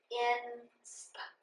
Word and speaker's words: inspire: That tells me this I says its long sound. Inspire. The E doesn't say anything.